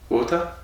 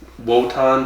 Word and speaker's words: Wotan: I kept referencing how it was a W, but they pronounce it like a V. Mm-hmm. It's Wotan, but they said Votan.